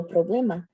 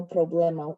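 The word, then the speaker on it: problema: So tonight you can know there's actually no problemma instead of no problemmo. Even though it rhymes when you say no problemmo, right? That's why people say it. So the answer is no problemma because problemma even though it ends in an ma it's a masculine word right?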